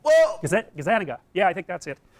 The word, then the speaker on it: Gazzaniga: Gazzaniga. That's wrong. Whoa! Gazzaniga.